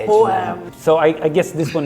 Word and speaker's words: H&M: Like the letter H in Swedish is H, and the letter M in Swedish is M. H-M.